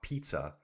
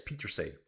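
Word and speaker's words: Pieterse: Puck Pizza, he says. Why Puck Pizza? Uh yeah, it's Peter.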